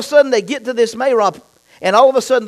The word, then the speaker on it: Marah: Some say Marah, but the correct pronunciation is Marah.